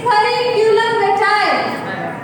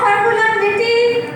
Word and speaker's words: curriculum vitae: Okay, the correct pronunciation of CV is curriculum vitae. Curriculum vitae, not circulum vitae.